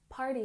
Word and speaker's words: party: Party has emphasis on the first syllable.